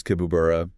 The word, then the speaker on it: Tibooburra: And you might hear it pronounced slightly differently by locals. Sometimes Kibooburra, sometimes Tibooburra. Sort of a softer P sound.